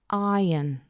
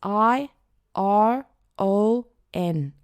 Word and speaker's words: iron: Iron. The word is i r o n. Iron. Parece iron pero no, decimos iron.